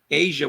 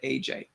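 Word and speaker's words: A'ja: I mean, I'm told I'm pronouncing her name wrong. I guess it's Asia Wilson instead of AJ.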